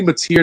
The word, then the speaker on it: Matier: It's actually Matier, not Mater.